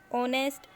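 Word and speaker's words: honest: ऑनेस्ट एच से शुरू होता है, लेकिन एच कॉन्सोनेंट है, लेकिन एच यहाँ पर साइलेंट है, और जो साउंड निकल कर आ रहा है वो ओ का साउंड है, ऑनेस्ट।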